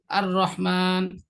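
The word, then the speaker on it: الرحمن: জিনিসটা আছে আর রহমান, এখানে আর রহমানের মধ্যে আলিফের জবরটা, আলিফের জবরটা র কে একবার ধরছে, আবার র জবর র একবার, তার রটা দুইবার উচ্চারণ হলো। এটা হামজা র জবর আর, র জবর র, কিংবা র হা জবর রহ, আর রহ, তাই এখানে রটা দুইবার উচ্চারণ হয়েছে।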